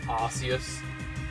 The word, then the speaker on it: Arceus: Obviously, like Arceus. You know, you're not seeing A-R-S-E. But people still pronounce it Arceus.